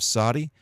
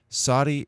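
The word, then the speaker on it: צדי: pay then we have Saudi Saudi is pronounced really like a TS sound like cats Saudi is a letter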